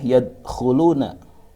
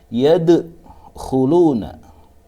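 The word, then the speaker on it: يدخلون: Dengan cara baca tidak boleh yadkhuluna, tetapi harus diqalqalahkan karena di sini huruf qalqalah mati, maka ini dinamakan qalqalah sughra. Dengan bacaan memantulkan huruf dal, huruf qalqalahnya dipantulkan dengan cara baca yadkhuluna.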